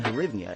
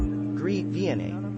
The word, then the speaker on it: hryvnia: The modern Ukrainian hryvnia is sometimes transliterated as hryvnia, grivna or grivna, due to its Russian language counterpart, grivna, pronounced grivna.